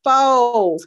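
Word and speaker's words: φῶς: Then the third Greek word for light that's represented in this scripture is the word phos. Okay. P-H-O-S. But it's pronounced foes.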